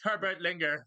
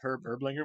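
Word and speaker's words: Herb Ertlinger: really funny is that she pronounced his name differently in the first season Herbert linger Herbert linger instead of herb her linger which means she doesn't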